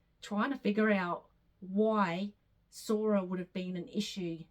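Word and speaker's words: Psora: Mother's side, once again, 5 generations back, and it was Sora, P-S-O-R-A. I'm gathering that's how you say it, Sora. I'm gathering the P is silent.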